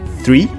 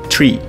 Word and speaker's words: three: TRE também não seria free que aqui significa liberdade então a gente tem um som de TH aqui para pronunciar esse número seria three three a